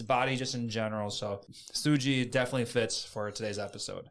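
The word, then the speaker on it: 筋: the Japanese word for muscle and that is suji suji is spelled Su uji and sui is clearly relatable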